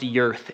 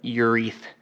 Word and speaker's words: Urth: It's pronounced Yurth. It took me a while to figure that out because I was calling it Ureth but it's like earth, urethane, get it?